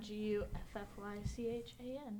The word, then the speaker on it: Guffychan: At Guffychan, GUFFYCHAN. At Guffychan. Oh, so it's not like Chan, like the 8 Chans or anything? No, just Chan. I pronounced it incorrectly, until now.